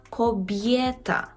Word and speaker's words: kobieta: привітання вивчити Добрий вечір кобєта кобєта Так жінка кобєта тут впевнено чітко вимовляємо є кобєта Або здоровє здоровє так